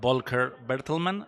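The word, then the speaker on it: Volker Bertelmann: about the this the score the music by vulker berlman have I say it right perfect okay uh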